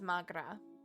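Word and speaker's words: mo ghrá: Come on, Mogra. Irish for my love. One dialect would pronounce it as Magra.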